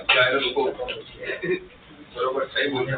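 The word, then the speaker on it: gyroscope: हाँ जायरोस्कोप, बरोबर सही बोल रहे हैं। तो लोग उसको गायरोस्कोप भी बोलते हैं। हाँ पर वो गायरोस्कोप नहीं होता, वो क्या होता है जायरोस्कोप।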